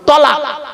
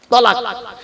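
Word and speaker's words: طلاق: জিজ্ঞেস করবো কোন স্বামী যদি তার বউকে ফোনে তালাক দেয় হবে আমি বললাম লোকটাকে কে আমাকে বলতে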